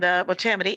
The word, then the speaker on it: Motamedi: I'm going to get the accent on the right syllable, and Motamedi.